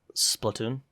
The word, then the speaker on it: Splatoon: Splatoon.